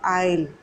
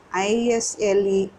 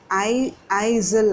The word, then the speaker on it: isle: ஆனால் ஏரியல் என்ன சொல்கிறான், பட் he safe in a corner of த ஐல். ISLE கொடுத்துருக்கு. ஐசில் அப்படி சொல்லக்கூடாது. S is silent.